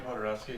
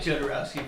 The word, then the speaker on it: Jodorowsky: Is that how you pronounce his name, Podorowski? Yeah. Oh. Yeah, Well, I it's- feel like an idiot. everybody does. We did Jodorowsky for a long time.